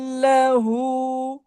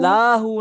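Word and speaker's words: لَهُ: वलम यकुल लहू। वलम यकुल्लाहु। लाहू नहीं, लहू। वलम यकुल्लाहु।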